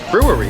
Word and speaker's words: brewery: easier to say but if you're thinking of like pronouncing it the way it's spelled you get all tongue-tied it's like a tongue twister brew worry say brew worry brewery yeah start with